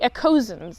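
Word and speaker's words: Ekosians: k o a Ain aosen the echo the echosens that's what it's pronounced so she's like top tier metal but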